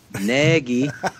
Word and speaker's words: Nagy: It's Trubersky, according to Nagy in Canada is Nagy, and he must be part Canadian.